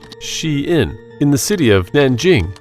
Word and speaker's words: SHEIN: fast fashion Chinese Behemoth pronounced she in in the city of Nanjing in 2008.